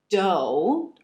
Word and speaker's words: dough: Las palabras although or though, que significan aunque, y también dough, que significa masa, de pizza, por ejemplo, se pronuncian con la O en no en inglés. No. En este caso, la G y la H son mudas.